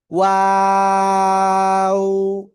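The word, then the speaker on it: و: দুই ঠোঁট গোল করিয়া উচ্চারণ করতে হবে। শুরুতে গোল হবে, মাঝখানে দুই দিকে প্রসারিত হবে, শেষে এসে আবার গোল হবে। ওয়াও। তিন আলিফ টান হবে। কয় আলিফ টান? তিন আলিফ টান হবে এই অক্ষরে।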